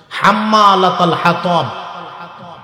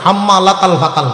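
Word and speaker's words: حَمَّالَةَ الْحَطَبِ: এই যে 40 দিন চেষ্টা হলো, হাম্মালাতাল হাতাব, এইটার উচ্চারণ করে হাম্মালাতাল ফাতাল কয়।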